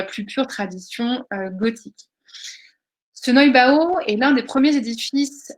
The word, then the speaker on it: Neubau: Ce mouvement va s'épanouir à la Renaissance avec l'édifice que l'on appelle le Neubau, le Neubau, je le prononce à l'allemande, hein, le Neubau, qui veut littéralement dire le nouvel édifice, le nouveau bâtiment.